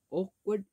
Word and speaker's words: awkward: Awkward is an adjective. Actually, there is a W letter, but we don't pronounce it. We pronounce it as awkward. Awkward. The first W and the R are silent.